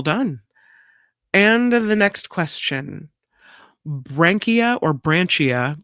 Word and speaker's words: branchia: And the next question, Brankia or Branchia, B R A N C H I A Brankia is the zoologologist name for what common structure